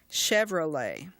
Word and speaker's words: Chevrolet: combination on the word Chevrolet the CH in spoken English is normally pronounced but in that word it's pronounced like an SH Chevrolet remember we talked earlier